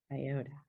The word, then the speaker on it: iota: Sigh. I. O. O. Da. Da. Okay, and now we're going to put it all together. Sigh-o-da. Sigh-o-da. Iota.